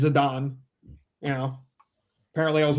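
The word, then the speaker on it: Zidane: Zedane is Zadon.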